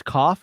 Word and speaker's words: cough: There's cough, which rhymes with off, enough, which rhymes with